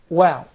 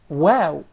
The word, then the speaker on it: و: You form a circle. Yes. With the two lips, without closing the two lips. Aw. Aw. Aw. Great. Okay. Of course, in some other languages, people mispronounce the waw, and instead they say tha. And instead of wa, they say tha. Or we, they say thee.